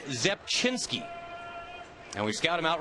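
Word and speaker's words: Rzepczynski: ARA Franklin lyric here RZ C Z zinski this is Zep chinsky and we Scout him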